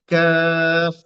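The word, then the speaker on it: قاف: থেকে আরেকটু বাহিরের দিকে এসে ওই বরাবর উপরে তালুর সাথে লাগানোর চেষ্টা করবেন জহব্বাটাকে গোড়াটা নয় বরং গোড়া থেকে আরেকটু সামনে এসে আপনি উপরের তালুর দিকে নিজে নিজে লাগানোর চেষ্টা করবেন করে যে অক্ষরটা উচ্চারণ করবেন সেটা হচ্ছে কাফ কাফ তাহলে আমরা এখন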